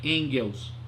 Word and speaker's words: Engels: Frederick Frederico em Girls se escreve em gelos mas pronunciarem deles é isso Call Marx e Friedrich engels a revolucionária ideia de